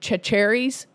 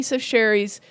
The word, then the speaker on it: Chachere's: Sachier's Creole seasoning, and it looks like it says Tony Chachere's, but it's Tony. I had to look up the pronunciation on YouTube because I wanted to be able to say it right. They have a really hilarious commercial on YouTube, but it's Tony Sacheri's Creole seasoning.